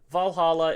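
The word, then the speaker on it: VA-11 HALL-A: so much to me so Valhalla is spelled va-11 Hall d a and that is because that is the location of the bar Valhalla um you are Jill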